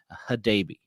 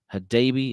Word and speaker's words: Hadebe: It's Teenage Hadebe. Hadebe is how I would say it, and how I heard it in the Houston video. So I cheated a little bit, but that is the Houston pronunciation of our new center back.